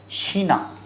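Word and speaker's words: China: mayor internet आल्स शीना चाइना की spelling तो same है बोलेंगे शीना in Indian Benson D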